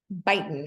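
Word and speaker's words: Beighton: add these name tests Bon is correct or baon depending how you want to pronounce it so uh Bon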